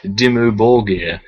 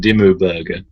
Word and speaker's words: Dimmu Borgir: This just every time I hear that band name reminds me of that person I met who pronounced them Dimmu Burger.